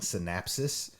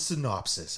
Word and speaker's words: synopsis: And I have a bad habit of saying synapsis because like I think of a synapse like neurons coming together, but it's synopsis. I've been watching the last couple we've done. I've been mispronouncing that.